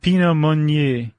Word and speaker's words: Pinot Meunier: There are 3 grapes in there, are the Pinot Noir grape, the Chardonnay grape, and how do you pronounce that last one? Pinot Meunier.